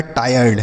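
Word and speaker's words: tired: तो अगर देखिए आई के बाद अगर आर ई लिखा हो तो इसका उच्चारण आय होता है।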